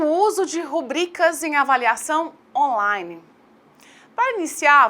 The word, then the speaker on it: rubrica: Rubrica ou rúbrica? Começamos, então, por esclarecer que a forma correta de escrita da palavra é rubrica.